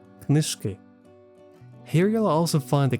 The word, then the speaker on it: книжки: One feature I really like is that it shows stress shifts when a word form changes, which is super helpful for correct pronunciation, as in the example of the word книжка, книжки.